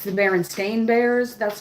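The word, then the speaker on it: Berenstain: like you know Baron how they say it's the Baron Stain Bears, but really everybody remembers it as the Baronstein bears for some reason.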